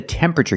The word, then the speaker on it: temperature: gauge this is the temperature gauge pronunciation tempera not temperature but temperature the TU makes it sound like chicken temperature remember it's three syllables temperature not temperature not four syllables but three temperature this is the temperature